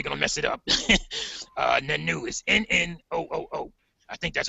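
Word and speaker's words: Nnooo: Nanu is N-N-O-O-O. I think that's how they pronounce it, Nanu.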